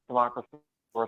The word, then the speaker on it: Democrisaurus: That's the right pronunciation? Democrisaurus? Yeah, that's right. Democrisaurus Rex.